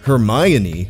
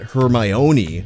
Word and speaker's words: Hermione: First of all, her name is pronounced Hermione, not Hermione. You can remember where the accent goes because it's on the my, as in Hermione is my girl, not yours, which means don't even think about it.